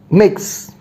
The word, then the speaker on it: Mx: mx all right and how do we pronounce it mix now these are certain